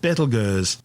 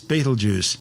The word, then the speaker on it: Betelgeuse: It's a red supergiant called Betelgeuse, better known to most people these days as Betelgeuse.